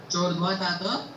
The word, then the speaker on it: चोर्ध्वातात्: The word is ध्वा, आधा ध और व मिलके ध्वा होता है।